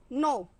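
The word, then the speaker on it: know: है वह कुछ कि नो यहां पर के साइलेंट है इसका मीनिंग होता है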